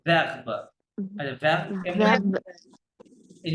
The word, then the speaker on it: verbe: এ ই এই জন্য ই এর উচ্চারণ ভে হচ্ছে, হ্যাঁ, নট ভো, ভো verb, verb, verb,